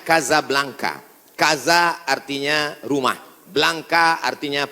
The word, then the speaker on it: Casablanca: Hasan dua di Kota Kasablanka ibukota Maroko tempat saya kuliah nama negaranya Maroko ibukotanya tulisannya Casablanca cara bacanya Kasablanka Kaza artinya rumah Blanca